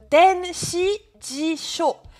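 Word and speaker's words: 電子辞書: Alors, le C, il se prononce denshijisho.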